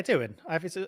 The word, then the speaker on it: Doohan: Yeah, Doohan. It's always been Doohan as far as I've understood. Same as his dad. I mean, obviously. But I mean, his dad is Mick Doohan, is what I mean.